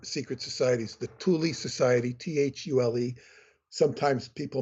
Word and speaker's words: Thule: were two other secret societies the Thule Society t-h-u-l-e sometimes people mispronounce It soul but it's called Thule in German and the